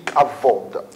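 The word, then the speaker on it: כבוד: Alors ça s'écrit kabod et ça se lit kavod.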